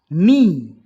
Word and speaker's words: knee: Knee, K silent.